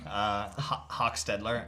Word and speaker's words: Hochstedler: So I'll pronounce it as I like to, Hochstedler, and I'm sure there'll be a few Hochstedlers in the community that will tell you that I pronounced it wrong.